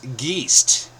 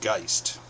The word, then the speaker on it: Geist: "Geese?" No, my last name is pronounced Gist with the long I as in poltergeist.